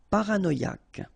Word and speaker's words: paranoïaque: Okay, remember, Q-U-E, K, ac. Paranoïaque. Paranoïaque.